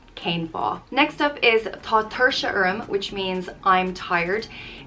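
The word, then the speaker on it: tá tuirse orm: thing like just cane fall next up is tater sharm which means i'm tired it's pronounced tho tertia urum and it translates to there is tiredness on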